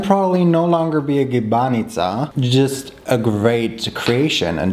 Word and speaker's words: gibanica: So apparently what I said in the beginning is completely wrong. That syllable is actually short. Gibanica.